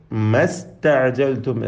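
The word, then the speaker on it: ما استعجلتم: ഇസ്തഅജൽതും എന്ന പദത്തിലെ ഹംസ ഒഴിവായപ്പോൾ സീനിനും സുക്കൂന്, അങ്ങനെ ഇങ്ങനെ രണ്ട് സുക്കൂന് ചേർന്ന് വന്നപ്പോൾ ഇൽത്തിഖാഉ സാക്കിനൈൻ പരിഹരിക്കുവാനായി അലിഫിനെ എന്താക്കി? ഒഴിവാക്കി ഉച്ചാരണത്തിൽ നിന്ന്. എന്നിട്ട് മസ്തഅജൽതും എന്ന് ഒറ്റ സാക്കിൻ സീനിനെ മാത്രം ഉച്ചരിച്ചു.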